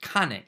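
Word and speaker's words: 金: It can also be pronounced Kane.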